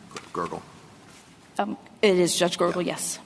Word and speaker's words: Gergel: I mean, at trial, Judge Gergel, is that the correct pronunciation of his name? Gergel.